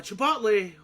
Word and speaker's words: Chipotle: So, for example, at at uh at uh Chipotle, I'm sorry, let me say it correctly because sometimes I say it wrong.